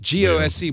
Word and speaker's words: Gose: It's pronounced G-O-S-E, but it's pronounced Gose. Gose. Like Gose. Gose. Yeah, some people say Gose. I've seen people say Gose. Some say Gose. I say Gozer because I'm a Bostonian